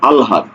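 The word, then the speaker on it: আহ্লাদ: শব্দটির প্রমিত উচ্চারণ কি আলহাদ দেখো হ এর সাথে ল যখন যুক্ত থাকবে কি বলছি এর সাথে ল যখন যুক্ত থাকবে তখন সেটার উচ্চারণ হবে কি আগে উচ্চারণ হবে ল তারপরে উচ্চারণ হবে হ ঠিক আছে এক্ষেত্রে একটু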